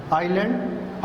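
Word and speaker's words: isle: तो इसमें जो है आपने एल नहीं पढ़ना, आइलैंड आइल। उसके बाद हमारा 14 पे है साइलेंट टी इज़ not pronounced in these common words.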